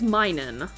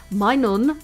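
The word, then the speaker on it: Minun: Next up is Minen. All right. uh min which is the same thing but it would probably be pronounced as minon is also the cheering Pokemon.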